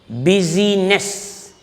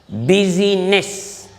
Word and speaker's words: business: Please note here, this yes in the word business must be pronounced as Z. Busyness. Busyness.